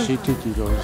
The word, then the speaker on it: Südtirol: Pronunciamo bene Südtirol. Südtirol. Ecco, Südtirol. Bravo.